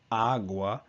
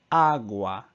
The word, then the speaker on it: agua: So instead of agua, it's agua.